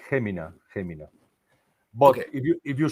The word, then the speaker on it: Jumilla: way that you pronounce the H or a J, Gemina, Gemina.